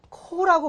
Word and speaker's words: Corps: 그래서 이건 발음을 뭐라고 한다? 코라고 발음해요.